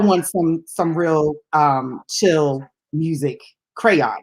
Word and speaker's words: Kreion: But Crayon, if you all want some real chill music, Crayon, and let me spell that because it sounds like I'm saying crayon, but Mhm. it's Kreion. Crayon.